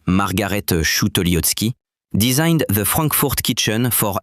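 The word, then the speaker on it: Margarete Schütte-Lihotzky: Then in 1926, Margarettootski, pronounced Margarettoski, designed the Frankfort kitchen for Ernst Mai's public housing program.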